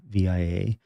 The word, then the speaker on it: VIA: I'm sure it's pronounced via, but it's all capital letters.